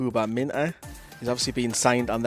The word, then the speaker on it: Minteh: But we will talk about the lad, Gambian forward, Yankuba Minteh, or I've heard it pronounced as Mine with a silent T, from Odense, Newcastle investing,